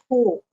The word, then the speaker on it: court: the second one is Court okay exactly the same pronunciation as the verb catch in the past Court but here it's